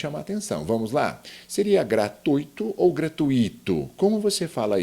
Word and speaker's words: gratuito: Aqui no caso, o gratuito, olha só, o ditongo é um encontro vocálico, mas 2 vogais na mesma sílaba.